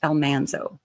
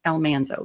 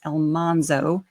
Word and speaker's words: Almanzo: I am aware that his name is pronounced Elmanso. Laura pronounced it Elmanso. That's how it's supposed to be. But I grew up watching the TV series where Eliza Jane introduced him as Elmanso.